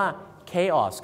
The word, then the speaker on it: chaos: วุ่นวาย นั นะ ครับ เข ออก เสียง ว่า เคคอส นั่น เอง ครับ ไม่ ใช่ เาส นะ ฮะ ไม่ ใช่ ฉส ฉส นะ ฮะ คือ ออก เสียง ว่า เคออส ครับ ผม ที่ ริ ๆ